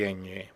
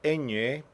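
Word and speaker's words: eñe: separate letter uh uh in English we have the sound of the enye we say onion we say Canyon we say cognac but we do not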